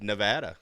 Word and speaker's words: Nevada: It is pronounce Nevada. It. Gotcha. It's Nevada.